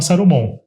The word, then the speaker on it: Sarumon: Por isso que chama Sarumon. É como um japonês falaria salmão, né? Que ele não pronunciou o L.